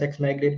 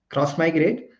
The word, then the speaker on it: Xmigrate: like pronounce it as x migrate we pronounce it as cross migrate uh because of this